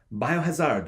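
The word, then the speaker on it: バイオハザード: Japanese game it's called biohazard Oh and I'm not saying that race race asleep that's actually how it's pronounced its biohazard with an O at the end and I looked at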